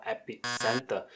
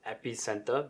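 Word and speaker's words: EpiCentre: nowhere right so one example is company called epic center sorry it's pronounced at epicenter but this is a company that distribute apple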